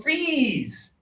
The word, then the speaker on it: freeze: So let's pronounce these together. High tongue, you guys, when the temperature goes low, high tongue, freeze.